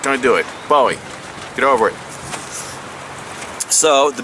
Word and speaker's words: Bowie: It is called the Becker BK9 Combat Bowie or Buoy if you want to be a buoy pronunciation uh critic. I'm sorry. When they changed the spelling to B O E, I'll call it buoy, but right now it's it's spelled like it should be Bowie. So, I'm going to say Bowie because Bowie for one doesn't sound stupid.